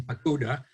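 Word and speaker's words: Paquda: relative of Bacha ibn Bekuda. Whose name is usually spelled with a P, but there actually is no P in Arabic.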